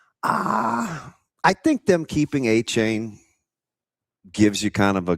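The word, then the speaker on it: Etienne: Which by the way, how did we go this long with calling Travis ATN and not Achain? What? Yeah, that's his pronunciation. Really? Yes. He's he's a Louisiana Bay by you guy. So when he got to Clemson, nobody could say it the right way.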